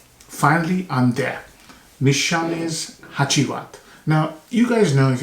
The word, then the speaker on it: Hacivat: whatever the sequence is and then this is haiat haiat um is the the way right way to pronounce it um and this came out in